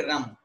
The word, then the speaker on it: रं: है वो कहलाती है रम। र के ऊपर बिंदी, इसको हम उच्चारण करेंगे रम।